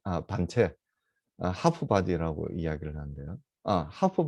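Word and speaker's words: half: 하프 바디 할 때 요 L은 묵음입니다.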